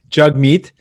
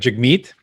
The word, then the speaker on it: Jagmeet: So my name is pronounced Jug like hug. You said it right. Jagmeet. And the emphasis actually is on the second part. So it's like Jagmeet.